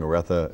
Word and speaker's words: Aretha: trust with uh by the way compliments on pronouncing Aretha the correct way.